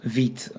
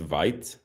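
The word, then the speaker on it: Vite: And that's actually funny because vit if I remember correctly it means fast in in French I think. Yeah. Yeah. It's it's not pronounced vit.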